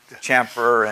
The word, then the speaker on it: chamfer: you know he's learning words like like like chamfer and my pronouncing that right yeah chamfer and and and fill it and things like